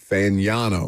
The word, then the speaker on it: Fagnano: Fagnano.